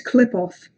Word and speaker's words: Qliphoth: Maybe it's Qliphoth. Like the Q is pronounced like a K.